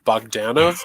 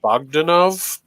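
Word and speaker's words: Bogdanove: his last name john bogdanov john bogdanov um like magdanovich there's no itch it just ends but uh look at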